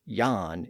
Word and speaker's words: Jan: That's why the name that looks like Jan in English is pronounced as Yan in those regions and is also spelled with a J.